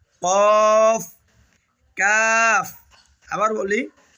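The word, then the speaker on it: ق: এসেছে এটার নাম হল কফ কফ কফ কফ উচ্চারণের সময় গোলা থেকে একটা ধাক্কা হবে কফ কফ এরপরে দেখতেছেন যে আলিফ এবং ছোট্ট একটা টান রয়েছে।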